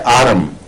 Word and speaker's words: Arum: और AURUM लिखा जाता है, और एक है आरम, मैं आरम कह रहा हूं इस वक्त, जो ARUM है, ये वो सोना नहीं है। तो आरम ट्राइफिलम कहलाता है, ट्रिफिलम कहलाता है, ट्राइफल।